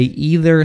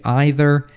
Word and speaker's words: either: so some people say either some people say either some people say neither some people say neither both are correct which version is more